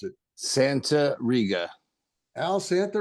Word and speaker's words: Santariga: last name for me I don't want to mispronounce it Santa Ria Al Santa R um and before we get